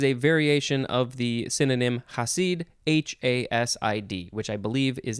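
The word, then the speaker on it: Chasid: threads next we have i think it would be pronounced hasid or something close to that um it is spelled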